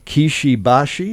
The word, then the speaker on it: Kishi Bashi: but you guys have got Kishi Bashi is that correct yep that's how you pronounce it Lee Fields in the